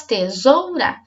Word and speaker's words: tesoura: Separada em sílabas, tesoura. Será que nós vamos falar a palavra é tesoura? Será que é tesoura ou é tesoura? A sílaba mais forte é o zoura.